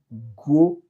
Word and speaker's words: Groenland: connaî tout il dit pourquoi ça me prononcer gros land et ben c'est question de anglais avec et français et c'est Greenland c'est vrai mais français a dit goenland donc des représentants de